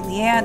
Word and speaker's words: Leane: pronouncing it right like I always pronounce it lean but then like it could be Leanne I don't know they say lean I think I'm still